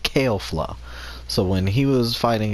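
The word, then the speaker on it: Kefla: was fighting against kale flop I keep on pronounce her name as Kevlar because that's what the English dub pronounce her name but it's actually pronounced kale flaw so when he was fighting against kale flaw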